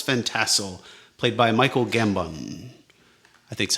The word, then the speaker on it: Gambon: eventually murders Baltus Van Tassel, played by Michael Gambon. I think that's how you say his name. Gambon.